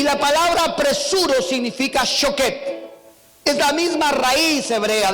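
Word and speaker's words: שֹׁקֵד: La vara de almendro en el hebreo se pronuncia shaket. Y la palabra apresuro significa shoket.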